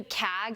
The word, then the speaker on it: CAG: Yeah, the way you pronounce the Kag almost reminds me like a cat hacking up a hairball, but Central American gy is a mouthful.